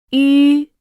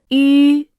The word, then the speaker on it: 吁: When pronouncing, 一、 the lips are relaxed. When pronouncing, 吁、 the lips must be rounded.